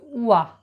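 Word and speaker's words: one: এখানে নিয়মটা দেখো রয়েছে ও দিয়ে শুরু হয়েছে, উচ্চারণ হচ্ছে উয়া, ওয়ান, উচ্চারণ হচ্ছে ওয়ান আইট ম্যান, উয়া।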